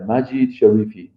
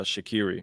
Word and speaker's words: Majid Sharifi: Can you pronounce it now so the audience uh is aware? Yeah. Majit Sharifi. Sharifi. Majit Sharifi. I think I said uh Shakiri.